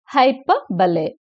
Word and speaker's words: hyperbole: ஹைப்பர்பலே இதை ப்ரொனவுன்ஸ் பண்றது வந்து ஹைப்பர்பலே அப்படின்னு சொல்லணும். ரைட்?